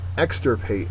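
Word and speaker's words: extirpate: distinct antonym is implied extra Pate is next extra Pat's a verb first syllable is accented means to tear up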